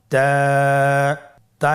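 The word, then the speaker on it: تاء: বা এর মত আরেকটি হরফ আমরা দেখতে পাচ্ছি তা এর উপরে দুই নোক্তা তাহলে দুই নক্তা হরফটিকে কি বলে তা হরফটি বারিক হরফ এবং এক আলিফ টেনে পড়তে হবে। আপনারা আমার সাথে বলুন তা আবার বলুন তা এর মাখরাজ কোন জায়গা থেকে?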